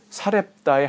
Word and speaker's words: 사렙다: 많은 과부들이 있었는데 유독 사렙다의 한 과부에게 하나님 주님의 은혜가 임했다는 거예요. 사렙다. 원래 이제 구약성에는 사르밧 과부라고 돼 있죠. 그건 발음상의 차이예요. 히브리어로는 사르밧이고요. 아람어로는 여기 사렙다. 그러니까 뭐 틀린 게 아니에요.